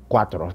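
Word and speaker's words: Quattro: Cuatro, that's how you say it.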